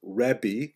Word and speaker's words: Rebbe: In Israel, the term used in late antiquity was Rebbe, that's the actual pronunciation, which means my greatness, my largeness, which is translated to be my teacher.